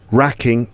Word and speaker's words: wracking: Racking, W-R-A-C-K-I-N-G. There's a silent W in there.